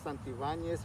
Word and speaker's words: Santibanez: full name uh full name is santivanes santi valos santibanes van yes there you